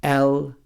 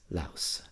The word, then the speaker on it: Laos: And it's pronounced with the S. Laos. Laos.